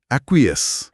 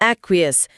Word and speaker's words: acquiesce: पहला शब्द यह है एक्वय। स्पेलिंग है ए सी क्यू यू आई एस सी ई एक्वयस। एक्वयस।